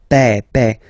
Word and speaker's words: père: Remember, accent grave like that. It's this opened père.